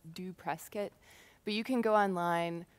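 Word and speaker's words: dopresskit: free to use it's pronounced actually this is pronounced do press kit but you can go online search for it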